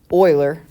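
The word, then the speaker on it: Euler: guys remember seeing this compound interest formula um Oiler spelled like this worked on this if I put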